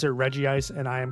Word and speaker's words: Regice: I will pronounce it Reggie Ice, and I am correct.